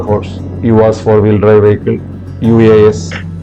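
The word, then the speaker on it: UAZ: us four-wheel drive vehicle uas I think it's pronounced as USA so it's a short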